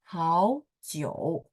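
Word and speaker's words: 好久: Oke, 生词，好久，好久. Teman-teman kalau masih ingat ya, nada tiga ketemu tiga ya, seperti kosakata kita nomor 1, maka ketika baca huruf pertama berubah jadi nada 2. Makanya 好久 gitu ya.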